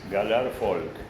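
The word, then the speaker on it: Gallart Folch: Gallard se escribe folch. Es Galar Folk.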